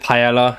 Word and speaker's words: paella: Yeah, so I pronounce it paella. I know it's the British way of saying it.